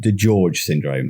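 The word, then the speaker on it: DiGeorge syndrome: the beginning that you have a condition called The George Syndrome have I pronounced that right yeah okay is epilepsy linked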